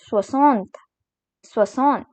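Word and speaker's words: soixante: video that is 60 which is called as swasantha so let us recall what all we have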